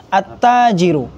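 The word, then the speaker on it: التاجر: itu beda dengan huruf Syamsiyah kalau huruf Syamsiyah itu dia ada Alif lamnya tapi Alif lamnya e Alif lamnya itu enggak dibaca langsung dimasukkan ke huruf setelahnya Seperti apa attajiru Jadi ada tasjidnya tap alif lam itu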